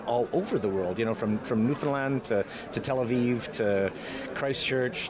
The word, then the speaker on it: Newfoundland: And second of all, thank you so much for saying Newfoundland. Newfoundland! Did I pronounce it properly?